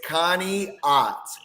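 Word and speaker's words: Conneaut: do you say it so it's Connie Connie Connie Connie No Lie we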